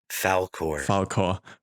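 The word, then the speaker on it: Falkor: What's the English pronunciation again? Falcor.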